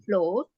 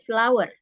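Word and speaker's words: flour: flow ya tepung ini cara bacanya bukan flow tapi flower cara bacanya mirip sama a flowerna there is C CE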